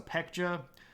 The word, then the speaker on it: Baekje: The Baekje, which is actually sometimes pronounced with a P, so Pekja.